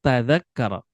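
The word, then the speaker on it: تَذَكَّرَ: Mada tadzakkara. Bukan mada tadkur, apa yang kamu ingat. Tapi tadzakkara ya tadzakkaru.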